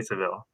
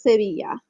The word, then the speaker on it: Sevilla: So you say Seville. You won't say Sevilla. You'll say Seville. but in Spanish it's Sevilla.